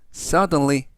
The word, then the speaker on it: suddenly: 뜻이 되겠습니다 이번 단어는 suddely 라고 발음하시면 되겠구요 이때 강세는 앞부분에 있는 알파벳 u의 강세가 있고요 품사는 부사 뜻은 갑자기라는